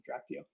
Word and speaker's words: Drachtio: I have no idea how it's pronounced, but I pronounce it Drachtio.